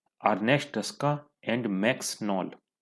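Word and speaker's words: Knoll: तो क्वेश्चन 8 का correct answer है B, Ernest Ruska and मैक्स नॉल। के यहाँ पे साइलेंट।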